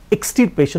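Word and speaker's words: extirpation: আর ডুমস্টে আরেকটা মানে হচ্ছে ডিস্ট্রাকশন, ডিস্ট্রাকশন মানে কি, সিনোনিমাস ওয়ার্ড কি বললাম, অ্যানিহিলেশন বা এক্সটারপেশন, স্পেলিং ইজ এক্সটিরপেশন বা দ্য প্রোনাউন্সিয়েশন ইজ এক্সটারপেশন।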